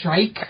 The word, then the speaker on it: Shrike: He's named after a bird. It's Shrike.